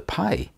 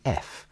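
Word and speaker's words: פ: With the dot, the letter is pronounced P. Without the dot, it is softened to F.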